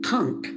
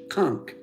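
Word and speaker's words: conch: the the Bahamas and I ate C conk it's spelled Co n c conk and that is the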